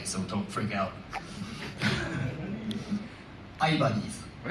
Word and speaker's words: Ibanez: uh in Japan the where our headquarter is is uh I'm going to pronounce this in like a Japanese way so don't freak out. I bunnies.